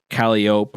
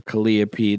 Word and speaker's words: Calliope: And Louisville is one of the few that still has a Calliope or Calliope, depending on how you want to pronounce it.